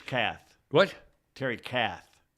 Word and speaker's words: Kath: breathed his last Terry Keith picked up a nine millimeter pistol leaned back in a chair and said don't worry about it it's Kath what Terry Kath not Keith oh it's pronounced cat it's spelled k-e-iitf and